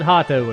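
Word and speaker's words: Hotto: I could have just called it Hato and done it right. But oh well. I like me the Japanese pronunciation, yay!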